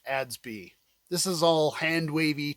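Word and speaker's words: ADS-B: leave home without them in aviation it's typically pronounced adsby this is all hand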